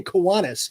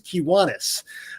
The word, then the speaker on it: Kiwanis: I say Kiwanis, but it's actually an Indian term, and the correct pronunciation is Kiwanis.